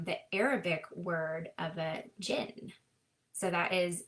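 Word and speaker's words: jinn: Arabic word of a jin. So that is J I N and you pronounce it with like a strong J and then you pull out the N.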